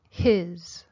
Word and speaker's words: his: The words have different pronunciation. He's. His. It's a short I. His.